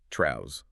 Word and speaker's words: Trouz: And it's pronounced Traus, like a trouser. And Traus is this exaggerated hyper-stylized reflection of Trevor himself.